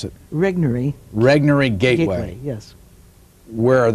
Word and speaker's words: Regnery: trashing the planet is put out by they pronounce it regnery Regnery gateway yes where are they located here